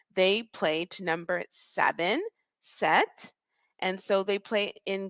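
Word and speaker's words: sept: seven and it is Set set set notice that I'm not saying the letter P for this word I'm actually just skipping over it and just it the p is silent so what we're really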